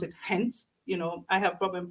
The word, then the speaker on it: Ghent: anybody who is coming here, once you're in Ghent, and they would pronounce it Hent.